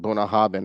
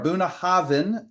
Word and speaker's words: Bunnahabhain: So that BH is a V for victory when it comes up.